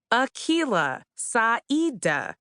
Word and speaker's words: Akilah: It's pronounced Akilah Hughes. It's Swahili, Arabic, and Irish, respectively.